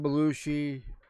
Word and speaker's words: Belushi: is that how you say it yeah John Belushi Dan arroy and a bunch of others that